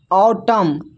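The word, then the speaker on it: autumn: फिर है ऑटम। ऑटम में भी यहां पर देखिए एन साइलेंट है।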